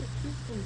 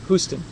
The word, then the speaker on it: Houston: So anyway, she's going to Houston It's funny, actually there's a little town here spelled the same way, but they pronounce it Houston. So if you're from Minnesota, then you live in Houston, and if you're from Texas, you live in Houston.